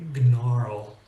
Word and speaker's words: gnarl: For example, the word gnarl. I think you'll agree that we're all grateful that the G is silent because trying to say gnarl takes more work.